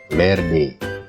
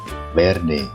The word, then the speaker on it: verde: susah untuk mengucapkannya ya, karena huruf V ini pengucapannya itu merupakan gabungan antara huruf V dan B. Jadi contohnya verde, viernes, ya, bukan verde atau verde, bukan viernes atau viernes, tapi verde, viernes.